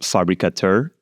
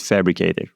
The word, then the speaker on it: Fabrikatör: to look at this European way German ways fabricat and fabricor yeah you can call it fabricator with K fabricator with the k um oh it's like